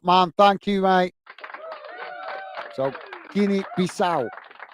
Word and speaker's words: Guinea-Bissau: So, Guinea-Bissau. Guinea-Bissau.